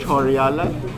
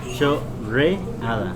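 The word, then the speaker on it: chorreada: तो इसका उच्चारण चोर्रीडा, चो रे आदा, चो रे आदा, चोर्रीडा है।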